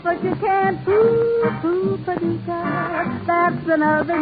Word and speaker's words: Paducah: And I'm delighted over tulip time because I happen to love a resident of Paducah. If you wanna, you can rhyme it with bazooka, but you can't prove Paducah.